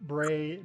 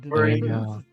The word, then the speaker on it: Braen: this is Brandon with a e it's it's it's spelled b r a e poopy DN braen braen all right well we will pick up there